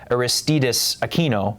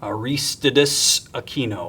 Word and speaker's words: Aristides Aquino: I think it's Aristides Aquino. Aristides Aquino, I believe. And it's not 100% sure. For my New Yorkers out there, it's kind of like Gristides, but not really, the grocery store.